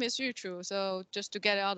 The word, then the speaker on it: Yuchu: uh my name is youtube so just to get out of the way it pronounces as youtube minus the be i'm industrial phd students